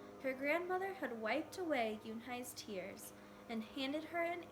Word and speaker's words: Unhei: "Ooh, nay?" the girl asked, scrunching her face. "Ooh, ooh, nay," some kids chanted. No, Yoon-hai corrected. It's spelled Unhei. It's pronounced Yoon-hai.